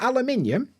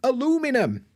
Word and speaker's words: aluminium: kind of material ah you mean aluminum do I now not aluminium no aluminum so yeah cheers America you